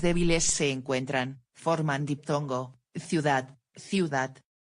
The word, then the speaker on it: ciudad: Cuando las palabras agudas, con la sílaba fuerte en última posición, terminan en una consonante diferente a n, s o vocal, no tienen acento gráfico. Ciudad, ciudad. No ciudad.